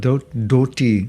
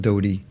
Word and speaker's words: dhoti: you know you know the thing about doti not dodie where's my daddy prabhu harry krishna prabhu where's my dirty it's doti it's not where is my dhoti if you can all